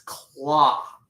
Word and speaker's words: clock: So it's clock. But he says clock. And I'm like, ooh, he ruined the song because cloak and rock don't rhyme. Clock rhymes with rock. Rock rhymes with clock, not cloak.